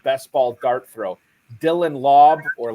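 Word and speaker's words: Laube: ball Dart throw Dylan lob or Lobby I'm still not convinced I know which the right way to pronounce think it's lobby lobby okay I think it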